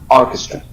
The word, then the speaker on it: orchestra: Yes, the stress in the first syllable. Orchestra.